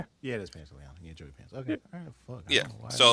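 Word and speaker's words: Pantoliano: Yeah, it is Pantaliano.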